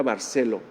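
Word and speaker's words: Barceló: Se me olvidó su nombre, pero se apellida Barcelo, con acento en la O.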